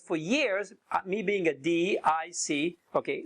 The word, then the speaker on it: DISC: years me being a D I see okay spell it don't say it like a word okay I'm a di